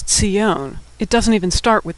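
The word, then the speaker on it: ציון: In fact, the Hebrew word for what we call Zion in English is Tzion.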